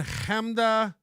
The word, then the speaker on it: Chemda: Keith and Chemda, that's how you pronounce her name, Chemda Khalili, and Keith Malley.